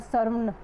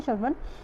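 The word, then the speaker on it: श्रावण: ठीक है, उसके बाद सर्वन, ठीक है, ये वैसे यूज़ हो रहा है, ठीक है, इसको बोलने में ऐसे, प्रोनाउंसिएशन में हिंदी में ऐसे बोला जाता है, ठीक है, श्रवण।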